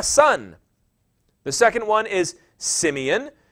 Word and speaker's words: Simeon: The second one is Simeon, which would have been pronounced Shimeon. It's an SH sound at the beginning, Shimeon.